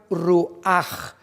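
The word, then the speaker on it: רוּחַ: La palabra nepej es diferente a la palabra ruach, que también se pronuncia ruach con J, porque termina en CH en el hebreo.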